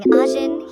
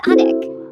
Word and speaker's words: Ajin: Instead of saying Ajin, he says Adik, which sounds like a puppy's name.